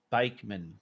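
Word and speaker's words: Backman: Now, Bakeman, your name's spelt back, but I know you pronounce it bake.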